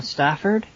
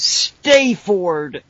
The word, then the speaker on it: Stafford: bad fake American accent, I would refer to as Stayford. No, because why would you pronounce it that way? I don't know. Whenever I was there, I thought if there was going to be a ludicrous American with a ridiculous accent, that's how it should be pronounced by them. Well, no, because there's no Y or E, or there's no other vowel that would contribute to the long A.